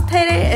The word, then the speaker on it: Teide: famous Observatory quick disclaimer we didn't actually know how to pronounce payday until a bit into our drive up the park so in this video You're Gonna Hear us call it TD to prepare us for